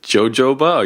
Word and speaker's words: jojoba: Is it jojoba or yoyoba oil? Jojoba. Jojoba, thank you. Silent.